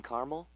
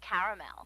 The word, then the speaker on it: caramel: us car clinic please I'd like it in Carmel actually you said Carmel when it's pronounced caramel can't we just call it yellow no everyone